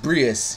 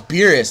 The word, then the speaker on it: Beerus: So it's like that thing where, you know, like fucking Jimmy's just Brius, you know what I mean?